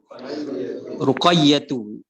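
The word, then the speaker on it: رقية: Ruqayyatu. Jangan ditanwinkan.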